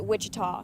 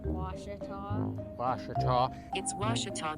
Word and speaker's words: Ouachita: for wasita Baptist University back in Texas everybody pronounces it Witchita but really it's was was how would you pronounce it was it'sah Baptist University get it right it's was people